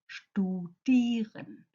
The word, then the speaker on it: studieren: For example, I and E in German is a long I, like in studieren. Yeah, studieren. Compare that to E and I, which is actually pronounced I, mein. Studieren and mein.